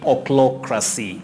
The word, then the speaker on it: ochlocracy: So you say ochlocracy, ochlocracy. That digraph, C and H, combine to form the sound K.